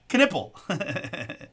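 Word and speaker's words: Knueppel: It's Knipple. Although I heard someone say Knuple today, and I thought, oh man, if they were really saying it wrong the whole way, just to get nipple in there, they're crazy.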